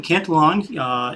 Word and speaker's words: Cantelon: It is Cantelon.